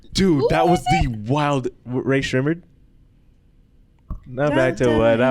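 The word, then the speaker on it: Rae Sremmurd: dude, that was the wild Ray Shrimmered. Now back to what I was saying. Oh, I thought it was Shmurda.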